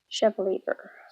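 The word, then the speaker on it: Chevalier: And then I happened to pick up The Girl with the Pearl Earring by Tracy Chevver is how her name's pronounced.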